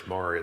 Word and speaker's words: Maury: mission Discovery I think I introduced you as Murray it's maray though Murray yeah well the